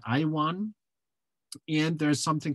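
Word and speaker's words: IAWN: The acronym, we pronounce that IWAN.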